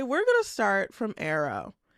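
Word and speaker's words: Aro: I know I said that 15 times already, but um anyway, we're going to start from Arrow. Arrow.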